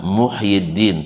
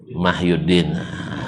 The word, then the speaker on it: Muhyiddin: di Arab Muhyiddin sampai di Indonesia Mahyuddin.